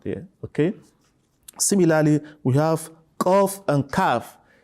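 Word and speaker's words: قاف: Similarly, we have qaf and kaf. So it shouldn't be pronounced as kaf or kef. No, it is wrong. You have to pronounce it as qaf.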